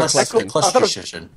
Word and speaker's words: Eccleston: Is that how it's pronounced? Correct. Christopher Eccleston.